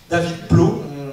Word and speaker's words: David Blough: David Plot, on prononce comme ça parce que d'origine américaine, c'est ça, je viens